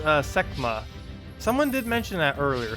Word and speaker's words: Sekhma: did mention that earlier semma semma wait how there's no the H is silent then techma techma so basically the H is just completely silent so it's not Sima I'm like saying it